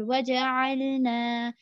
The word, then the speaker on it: وَجَعَلْنَا: And then here in the last word, waja'alna, here there is alif madda, which is before alif, there is fatha, which means that it is alif madda. We are going to extend it for about two counts, as in two harakah.